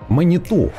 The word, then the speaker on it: Маниту: раз с новой кабиной маниту кстати Выяснил у неё ударение именно на последнюю гласную стоит по крайней мере Судя по инфе из интернетов две Афины на борту